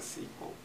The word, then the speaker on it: SQL: so um yeah there's discussions about SQL the pronounciation yeah yeah uh oh should we have a vote yeah and or said that Microsoft is micros of people use a sequel um my sequel is people say that let's do one more